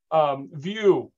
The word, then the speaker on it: Vu: View, as in VIEW.